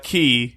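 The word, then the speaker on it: Quay: Like I ran around uh uh Goblin uh Key. Apparently that's how you pronounce it a bunch of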